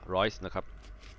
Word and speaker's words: Reusch: นี่ คือ ถุง มือ rice โอ้ แม่ สาว น้อย ช่าง สวย ซะ เหลือ เกิน อ้าว มา เริ่ม กัน เลย อ้า EU s c h อ่าน ว่า rice สวย งาม กัน เลย